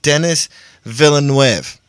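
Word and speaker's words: Denis Villeneuve: Forrest Gump writer Eric Roth to pen Dennis Villeneuve's Dune reboot. They're rebooting Dune, officially. Wait, did you just say Dennis Villeneuve? Because that's what it sounded like you said. And it's supposed to be Dennis Villeneuve.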